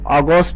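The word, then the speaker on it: August: তো একটু খেয়াল করবে এখানে এ ইউ এর উচ্চারণ করতে হবে অ এটা কিন্তু অগস্ট হবে অগস্ট মানে আগস্ট মাস্ট তেমনি করে আমরা বলতে পারি অটাম অটাম মানে হচ্ছে শরৎ বা শরতকৃত।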